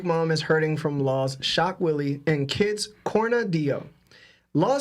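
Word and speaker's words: Shock Wille: I've been saying Shockville, but it's definitely Shock Willie.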